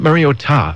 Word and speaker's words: Mariota: to the mainland pronunciation but Marcus said it was Mariota not Mariota but you still have to get the time there but Mariota but many including the duck announcer is still saying Mariota and but those of